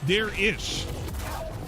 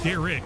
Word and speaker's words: Darish: It's Dare-ish. Not Derek, it's Dare-ish. Now all of the imposters are gone.